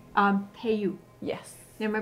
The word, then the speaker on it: Tayú: one I see and this is called um pay you yes am I pronouncing that correct yes right so this is